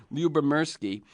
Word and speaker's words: Lyubomirsky: I'm speaking with Sonia Lubberki. Uh, and I'm going to spell it once just for those of you who want to go Google her.